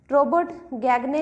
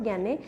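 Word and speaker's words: Gagné: Next है Robert गैगने लिखा हुआ है, लेकिन लिखा होता है, स्पेलिंग यही है, लेकिन क्या है? रॉबर्ट गैने।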